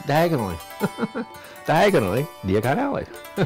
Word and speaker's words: Diagon Alley: really don't do yoga on Ali did this pronounce it different it's diagonally diagonally do you got Ali like I said